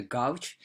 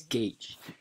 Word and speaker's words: gauge: some people call the gouge basically it's Sally it's supposed to be pronounced as gauge and it was a